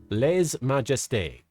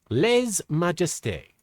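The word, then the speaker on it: lèse-majesté: The channel said as Le Majesty. Le's Majesty. Okay. Le Majeste.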